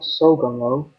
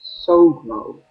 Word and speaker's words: Sogmo: It's not Sogomo. There is no middle O between G and M. It is in fact Sogmo.